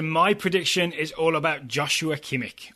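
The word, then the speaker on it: Joshua Kimmich: prediction is all about Joshua kimik or yosua kimik as I think is the the correct pronunciation he's either going to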